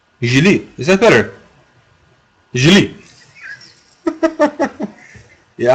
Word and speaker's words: Guillead: Ah, G like in Guillermo. Guillermo. That's better. So like Guillermo. Guillead. Guillead.